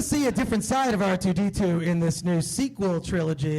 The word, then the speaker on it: R2: R2 Unchained. The R is silent.